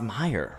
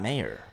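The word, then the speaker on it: Mayer: at the end it doesn't help that it's pronounce Meer right it's not mayor Meer right Meer the Meer makes me think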